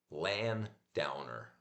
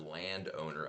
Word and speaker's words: landowner: Instead of land owner, I used to say land downer. I don't know why my brain splits the splits the word up after the after the N rather than after the D.